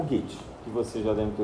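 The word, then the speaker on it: Goethe: ter ouvido falar né a gente diz get né mas pronuncia mais ou menos assim como se fosse o get né G né enfim não sou alemão mas é o gate que você já devem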